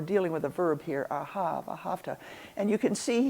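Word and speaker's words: אהב: and we're pronouncing it ahav. The second letter is a hey. The third letter is a bet, which can be pronounced either as a ba or a va.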